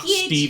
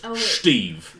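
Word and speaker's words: Schteve: is spelled uh it's it's not Steve excuse me it's Steve there's Steve Steve s-c-h-t-e-v-e Steve oh boy all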